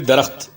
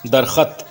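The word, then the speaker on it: درخت: This is actually Darakht, not Darkhat, as Sushila Mehtani was singing it.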